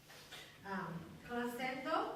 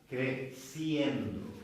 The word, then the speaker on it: creciendo: Crescendo. Who? Crescendo. Is that? What is it? To grow. Creciendo.